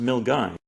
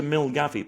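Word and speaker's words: Milngavie: a place that I I'm told is pronounced Milgai. Yeah. But I was very happy to ask the locals, could you please tell me the train to Milgavi, please?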